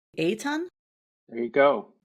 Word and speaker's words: Eitan: And you and and I want to make sure I'm pronouncing your name correctly. Eton. There you go. Eton.